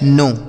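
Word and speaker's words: know: अगला शब्द है दोस्तों के एन ओ डब्ल्यू इसे पढ़ा जाता है नो।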